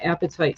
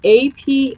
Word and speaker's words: apatite: And it's Apatite is how you spell it, which is sounds like the appetite, like I want to eat, but it's spelled differently.